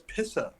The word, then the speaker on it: pissah: sounds it's less urinal it's no it's pissah Dave is that really how you pronounce it in Boston it is Weymouth from Boston